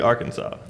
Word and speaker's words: Arkansas: or something like yeah it should be a RK a NS a w that should be Arkansas foreigners pronounce it Arkansas Arkansas mhm well we